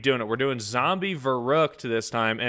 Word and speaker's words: Verrückt: We're doing Zombie Verruckt to this time and it's actually pronounced Verruckt. Verruckt.